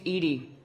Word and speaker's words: EDI: named Edie Edie is the phonetic pronunciation of EDI that is an acronym